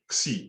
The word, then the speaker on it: Xi: Xi, yeah, this is Xi, that's how we pronounce it, Xi plus epsilon.